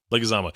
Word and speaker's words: Leguizamo: But I will fully acknowledge that his performance, John, how do you pronounce his last name? Leguizamo.